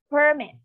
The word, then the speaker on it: permit: next uh example is permit okay so permit it's enough okay permit the stresses in the permit the verb is permit okay permit permit okay